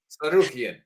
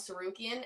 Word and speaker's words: Tsarukyan: All right, however you say that name, Tsarukyan. All right, from Armenia. So R-O-K? Yeah, R-O-C-K. All right, the S is silent.